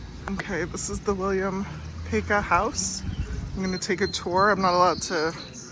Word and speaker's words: Paca: a slideshow kind of thing, but apparently it's Peka, and unless you're from Baltimore, and then it's pronounced Paca.